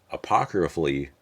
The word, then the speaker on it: apocryphally: Then came this one, and that's apocryphally, there we go, that's how you pronounce that word, where that fucking song came from.